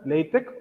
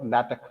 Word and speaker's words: LaTeX: It should be pronounced as LaTeX or LaTeX.